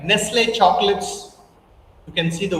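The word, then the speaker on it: Nestlé: And you can see the pronunciation, you can hear the pronunciation. It is Nestle. It's not Nestle. It's Nestle.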